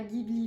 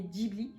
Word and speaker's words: Ghibli: donc c'est pas tu en japonais en prononce pas Ghibli mais Ghibli et c'est Miyazaki qui